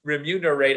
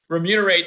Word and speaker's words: remunerate: us to remunerate these remuner rates I just use a four syllable word I really do remunerate these wonderful artists but